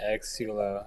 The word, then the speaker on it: Xsullo: It is, yeah, Xsullo. I think you pronounced it right.